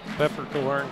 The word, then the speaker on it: Pfefferkorn: Pfefferkorn, is that how you say his name? Yeah, Pfefferkorn.